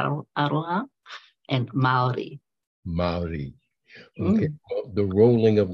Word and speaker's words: Māori: in a way and very important to the Mallory is that the correct pronunciation uh Maori it is more than a Maori so yeah